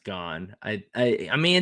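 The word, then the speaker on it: Gane: I really respect serial gain he just kept calling him gain I was like he's joking right he's gotta he's got to be joking there's no way that he doesn't know it's pronounced gone I I mean it's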